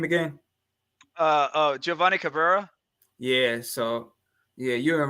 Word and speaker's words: Giovanni Cabrera: How you pronounce his name again? Giovanni Cabrera.